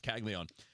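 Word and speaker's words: Caglianone: Calon Kagleon. Kagleon. I never say it the way that it's spelled because there's an extra N in there that never gets pronounced. It's Kagleon.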